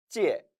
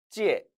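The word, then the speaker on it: 借: 바로 그 필 찾자 중국어 발음 찌에 찌에 라고 있는 겁니다 빌다 꾸다 라는 뜻이죠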